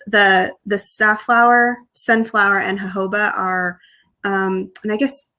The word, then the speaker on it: jojoba: saffron oil or i never know how to pronounce it it's like g-o-b-o-b-a or something like that oh yeah jojoba jojoba or whatever that's really cool too um